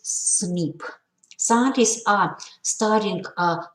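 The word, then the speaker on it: SNP: a single nucleotide polymorphism or cnp pronounces snip scientists are studying uh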